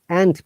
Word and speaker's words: and: like this word, salt and pepper, yeah, generally it should be Yeah, like this. But when you're pronouncing quickly, the and becomes an, salt and pepper. You don't pronounce d at all.